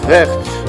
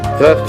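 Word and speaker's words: krechts: This is pronounced crechts, to rhyme with rechts, German, crechts and croak.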